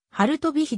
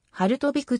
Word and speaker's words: ハルトヴィク: 性を持つが読みは春飛び火でなくポーランド語の発音規則によってハルト挽くとなる多数の著作で